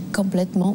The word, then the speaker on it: complètement: J'ai complètement oublié. Voilà. Maybe the only thing that we could mention would be the nasal for the OM.